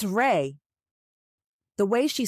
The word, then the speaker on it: Rey: His name isn't Ray. Kim advises. Oh, I'm so sorry. I thought you called him Ray. It's Rey. R E Y. You are saying it wrong. It's Rey.